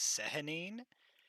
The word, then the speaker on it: Sehanine: to do with the moon god known as Sehanine, and it is pronounced like that. I'm pretty sure, if I remember correctly, it was like wasn't it like a Sehanine or something?